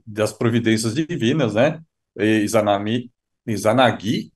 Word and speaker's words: Izanagi: Izanami, Izanagi e Izanami, né? Como bem frisou o Kaito-san, tem que a sílaba tônica aí, a última, né? Izanagi e Izanami, né?